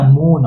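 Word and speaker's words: moon: एम का उच्चारण म से। डबल ओ का उच्चारण उ से। एन का उच्चारण न से। तो ये मिलके क्या बन गया? मून। और मून का मतलब चांद यानी कि चंदा मामा।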